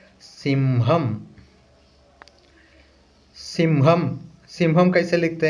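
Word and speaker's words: സിംഹം: ठीक है ना, तो उसका प्रोनाउंसिएशन है सिम या सिंहम।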